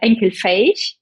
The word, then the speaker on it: Enkelfähig: And when, since we're on topic of values, I did see that Haniel values Enkelfähig. Did I pronounce it correctly? Yes, almost perfect. So actually it sounds like Enkelfähig, right?